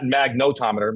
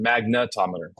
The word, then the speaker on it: magnetometer: Yeah, not magnotometer, magnetometer.